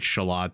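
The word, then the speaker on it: Xolotl: And if I'm saying that wrong, I think I'm saying it right, Shalot. The X is like a SH sound, I believe.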